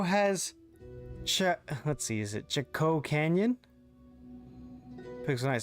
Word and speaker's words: Chaco: Pronounced like Choco, like chocolate. Okay.